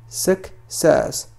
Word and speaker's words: success: نقول success. Success. C تنطق على الشكل K.